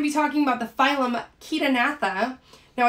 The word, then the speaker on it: Chaetognatha: talking about the phylum kitanatha now i do pronounce it with a k sound that's because that ch does make a k sound so it's not chair right it's ketonatha um then we're gonna